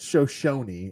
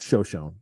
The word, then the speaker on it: Shoshone: this park called um there's two ways to say it Shoshone is the right way to say it but we've always called show shown because we're idiots and we're from Buffalo and we say wrong